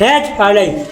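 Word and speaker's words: hedge: है ना जी साइलेंट तो डी कहां साइलेंट है डी के बाद जी हो तो डी साइलेंट डी के बाद अगर जी आ जाए तो डी का रहे silent H ई डी जी आ गई ना तो का होगा D silent हैज एच ई डी जी यहां कहां पड़ी है हैज डी साइलेंट हो गई ना एच ई डी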